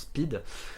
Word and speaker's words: Pyt: traduire en français donc ça s'écrit P YT et en gros ça se prononce speed et c'est un peu